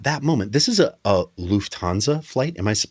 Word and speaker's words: Lufthansa: And at that moment, this is a Lufthansa flight. Am I pronouncing that correctly, Very Sharon? nice. Yes. Lufthansa.